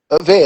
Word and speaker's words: VER: Is the right pronunciation? Ve.